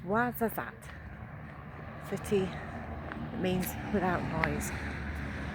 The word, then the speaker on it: Ouarzazate: So I finally found how to pronounce it. It's Ouarzazate.